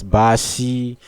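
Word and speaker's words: 巴西: You know every country has his ways of being pronounced in China. Like Australia is, New Zealand is shinisha. Then we have Brazil as Bashi, America is me, Canada is Janada.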